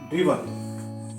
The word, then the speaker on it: driven: ड्राइव की जो third form होती है ड्रिवन, DRIVEN, ये कुछ लोग कहते हैं ड्राइवन, कुछ लोग कहते हैं ड्रिवन।